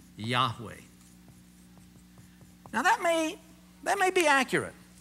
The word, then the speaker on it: Yahweh: Well, what we've done, uncomfortable with that, is we've added an A and an E, and we call him Yahweh.